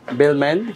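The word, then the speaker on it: Balmain: এ জিগনা জিগনা বি এল এম এ এন বেলমেইন নো বি এল এম এ আই এন বেলমেইন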